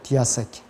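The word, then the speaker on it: διαθήκη: 그 다음에 헬라의 언약은 디아세케라고 불려요. 디아세케. 헬라어 발음으로는.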